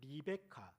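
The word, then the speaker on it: רבקה: 중요한 역할을 암시하는 말입니다 리브가의 히브리어 발음은 리베카 또는 리브카입니다 히브리어로 축복하라고 하는 뜻은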